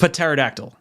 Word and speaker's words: pterodactyl: p because like you're close right the p is silent it's pterodactyl yeah it's p p-t-e-r-o-d-a-c-t-y-l okay so stephen was